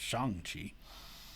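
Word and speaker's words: Shang-Chi: chinese character shang chi which would i guess more appropriately be pronounced shang chi who is a master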